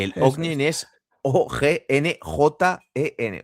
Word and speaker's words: Ognjen: Ognjen es Oggenjen.